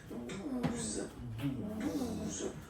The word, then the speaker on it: douze: Okay, douze. O, U. The two together will give you the sound OO. Okay, and then Z. Douze.